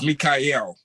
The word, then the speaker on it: Mikhail: You're close, but don't feel bad. Everyone in America mispronounced. It's Mikhail. Mikhail.